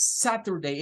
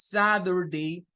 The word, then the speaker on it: Saturday: a dar cuenta que no lo dice con la t lo dice con la letra di Saturday no es Saturday es Saturday la pronunciación norteamericana Bueno